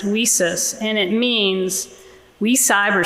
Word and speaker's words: WiCyS: sign out there that says whis so that's how we pronounce it whis and it means we